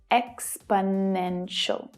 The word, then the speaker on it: exponential: There are 4 syllables. Exponential. The third is the strongest, though the first one is also stressed. The remaining 2 syllables are unstressed, so they reduce down, they become the schwa sound, which is always short and low in pitch. Exponential. Can you hear how the 2 weaker syllables fade into the background?